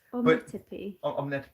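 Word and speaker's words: Ometepe: I think it's pronounced Omnetepe? Omnetepe. That word island. It's Omnetepe.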